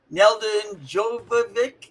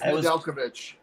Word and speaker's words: Nedeljkovic: Neldon Jovovic, the goalie. Do you know how to say his name? Alex Nedeljkovic. Nedeljkovic. Oh, very good, man.